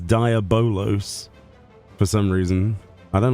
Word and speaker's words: Diabolos: Yeah, it's definitely Diabol Diablo. It's not. It's Diabolos. It's not because I'm British and we don't do that. It's like it's it is even spelled and pronounced supposedly as Diabolos for some reason.